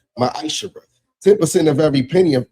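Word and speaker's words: מעשר: You can find this in the book of numbers 18 21 book of Malachi 3 8-10 means tent in Hebrew and is pronounced maish 10% of every penny of any increase the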